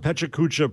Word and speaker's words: Pecha Kucha: If you search on Pecha Kucha pronouncer, the first YouTube video.